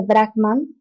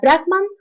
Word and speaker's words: Brahman: Los conceptos filosóficos más importantes de las Upanishads son la idea unificadora de Brahman y Atman y el concepto del karma. Ahora, Brahman, mal pronunciado por nosotros como Brahma, es el fundamento, la